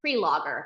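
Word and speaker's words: Prelogar: me to answer uh it's pronounced pre- logger as in before the logger that's easy to remember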